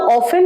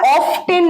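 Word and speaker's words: often: মাসে দুবার যাই হাউ অফেন তাহলে কতবার এটা অফটেন নয় এটার উচ্চারণ অফেন অফেন repeat আফটার মি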